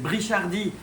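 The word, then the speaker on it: brichardi: C'est donc le néolampologus Brichadi. Ah ben oui, c'est Brichadi. Ça vient de Pierre Brichad. En plus, c'est un belge qui a décrit ça. Il s'appelle Brichad.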